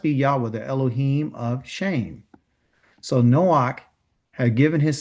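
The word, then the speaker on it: Shem: Okay, let's begin with Shim. Okay, they call him Shim. The proper pronunciation is called shame. Okay, that's his proper pronunciation. Shame. Okay, not to be ashamed, but shame.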